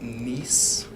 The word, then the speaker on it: Nice: It's actually pronounced Nice.